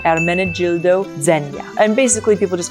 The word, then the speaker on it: Ermenegildo Zegna: And in English, or well, in Italian, it's pronounced Ermenegildo Zegna. So the G is a J, Gildo. Ermenegildo Zegna.